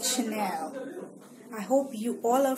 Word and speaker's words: Chanel: a and E L it's not channel it's Chanel coming up but the